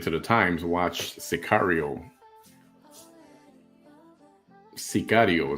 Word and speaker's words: Sicario: Sicario is the actual pronunciation before I get yelled at by the Mexican people.